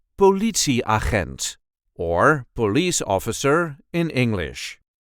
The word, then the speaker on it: politieagent: see how to pronounce politi aent or police officer in English. This is the way we say aent bi. There is a light emphasis on the second syllable.